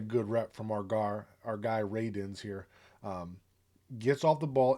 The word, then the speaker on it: Radunz: And it's spelled Radunz, and it's not how I would have guessed